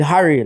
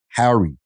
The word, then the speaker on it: Harry: Because you actually said Harry. Yeah. And I've never heard a Jamaican pronounce with the H.